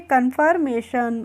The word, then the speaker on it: confirmation: और FIR को पढ़ेंगे फर, क्या पढ़ेंगे, इसको पढ़ लेंगे हम फर, कन्फर हो गया। और MA को पढ़ लेंगे मे। और TION का प्रोनाउंसिएशन क्या होता है, शन होता है। तो मैंने आपको पीछे भी वीडियोस में बताया है TION को हम क्या पढ़ते हैं, शन पढ़ते हैं। तो इसको पढ़ लेंगे कन्फर्मेशन।